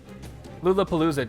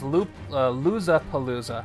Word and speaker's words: Loozapalooza: Lulapalooza did. Lulapalooza, if you're still there, how did you find me? I'm just curious. Oh, it's Loozapalooza. Okay, I was saying it wrong.